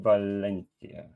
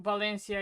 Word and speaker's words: Valencia: So, so, so, so, so, so if Spanish people Uh, read the V's as B. So, Valencia is Valencia.